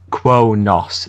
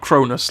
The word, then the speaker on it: Kronos: Yeah, I pronounced it incorrectly then. Yeah, it's Kronos is the correct pronunciation. Not Cronus, like the Greek god.